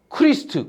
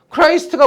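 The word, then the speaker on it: Christ: 크라이스트가 뭘까요? 예수를 크라이스트라 그래. 지저스 크라이스트라 그러죠. 됐습니까? 어 그니까 그걸 줄여서 우리 우리 식으로 이제 발음이 우리가 줘도 안 되니까 크리스트라 그러는 거고 원래는 크라이스트 크라이스트 그러니까 예수님 탄생보다 이전이다.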